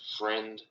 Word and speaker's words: Freund: his name wrong but it's uh John freund friend I don't know it's f r e u n d so I'm it's weird